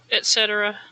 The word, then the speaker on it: etc.: But, you know, hindsight, etc. That's how I usually say it. I'm not sure why I decided to put an X in it earlier. Etc. Like it's spelled.